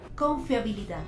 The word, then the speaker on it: confiabilidad: otra vez con fiabilidad cuando tú pronuncias con fiabilidad donde sientes que hay una mayor entonación dónde está donde escuchas que haces esa esa mayor fuerza justo en la última sigue muy bien en